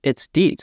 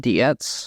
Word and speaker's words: Dietz: Because it's Dietz. It's not Dietz.